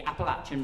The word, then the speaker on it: Appalachian: I need to pronounce it properly. The Appalachian Mountains, there we go.